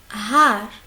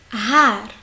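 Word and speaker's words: Haar: Ici, on va voir si on avait deux A. Har. Har. Har. C'est une longue A, presque une A et demie.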